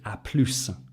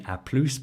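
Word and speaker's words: à plus: also shorten that to aplus and you notice here we pronounce the s in aplus but you don't pronounce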